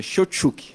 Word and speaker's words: Cheutchuk: E estou à disposição e realmente acertou exatamente o sobrenome, tá? Realmente é Shotchuk.